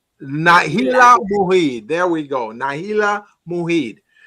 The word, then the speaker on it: Nailah Muied: Nailah Muied. Nailah Muied.